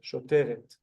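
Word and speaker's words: שוטרת: But you can see the et sound at the end of the single cop who's female.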